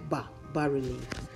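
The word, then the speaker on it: bas-relief: This kind of design is called, bas relief. It's pronounced B-A-S, but it's actually, I mean, it's spelled B-A-S, but pronounced B-A, like bas relief.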